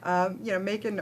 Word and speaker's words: Macon: It's spelt Macon. You see, because of the wine in France is M-A-C-O-N, Macon. But they all said Macon. I said, Macon is Macon, surely. No, Macon.